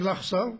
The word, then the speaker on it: LAJSA: You never heard the name LAJSA, many of you didn't hear. Well, LAJSA, because J in Spanish is pronounced as a chet and not as a J.